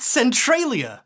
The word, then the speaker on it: Centralia: I started saying it like that it's actually pronounced Centralia I know Blair doesn't know what she's talking